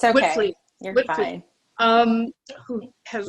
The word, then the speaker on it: Witvliet: Witvliet. It's okay. Witvliet.